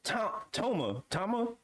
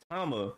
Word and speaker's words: Tama: They scared, they eyes popping out, and then you get Law, Kid, Chopper, Nami, and Toma. There we go, Tama. That's how you pronounce her name, Tama, with their eyes popping out in the cartoon fashion.